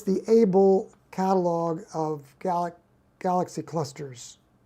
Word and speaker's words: Abell: catalog AC 1367 but when you pronounce it you call it able it's because there are